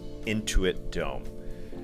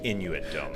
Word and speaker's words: Intuit Dome: the Clippers in the Intuit Dome. I'm just pronouncing it that way because I do say Inuit Dome sometimes.